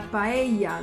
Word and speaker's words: paella: La paella de Laura. Paella, that's one of the hardest words to pronounce by native English speakers, especially native English speakers.